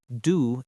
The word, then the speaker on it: du: Was, like was, du is soft, not do.